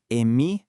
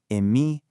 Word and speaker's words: Eme: In Brazilian Portuguese, these become Ele, Eme, Ene, and Ese. Go ahead, try practicing that out loud right where you are. Feel how they kind of bounce. Ele, Eme, Ene, Ese.